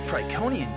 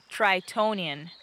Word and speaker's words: Tritonian: talking about space this trikonian jungle is hot try tonian what it's pronounced tritonian that's what i said triconian tritonian with a t in the middle come on aurora does